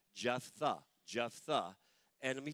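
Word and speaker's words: Jephthah: and his name is jetha jetha it doesn't look like it's pronounced that way but it's like Jeff Jeff the Jeff the and let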